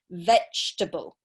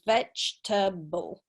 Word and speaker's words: vegetable: there okay very good the second e is silent so it's vegetable so it's only three syllables vegetable okay not four syllables